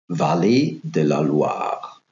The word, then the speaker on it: Vallée de la Loire: In French, this would be pronounced Vallée de la Loire.